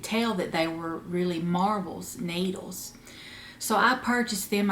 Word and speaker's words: Marblz: And I have been wanting a set of Knitter's Pride marbles, interchangeable needles, for a long time.